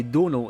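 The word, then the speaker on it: Domhnall: that is the way Donal is pronounced it's like tonal but with a d sadly small set would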